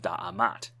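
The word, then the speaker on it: D'MT: for a kingdom, and which was maybe pronounced Da'amat.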